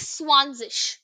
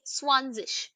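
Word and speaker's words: zwanzig: okay act Z no Z now 20 is swanes okay so Zed is pronounced as s so similarly we'll say swanes next now see from 21 to 100 the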